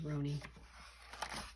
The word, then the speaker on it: Roney: Roan, the name Roney, pronounced with the long O, may have come from